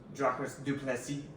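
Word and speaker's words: Dricus du Plessis: Dude, Dracus du Plessis he's French, that's his name, so it's Dracus du Plessis. It's how you say his name.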